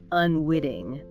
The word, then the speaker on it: unwitting: And the source mentioned the American English tendency for that cleat between vowels to sound like a quick D, so more like unwitting.